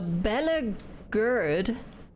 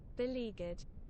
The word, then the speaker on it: beleaguered: Oh my goodness, a Bella Gerd. But hold on. One moment. Thesaurus time. Early Stickshare time. Bella... Gur... There we go. What does this mean? In a very difficult situation. How to pronounce? Beleaguered.